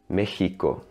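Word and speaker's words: México: is a back vowel in Mexico the e is the front of also so the sound is more like meheeco harm on her it's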